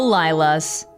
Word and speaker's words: Lylas: Do you know what Lyla's is? No. It's spelled Lylas. Lylas. Okay. I don't know that. What it means is love you like a sis.